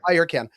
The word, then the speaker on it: Ayurcann: I never remember if I'm pronouncing that correctly, but Ayurcann. You got it right. Ayurcann.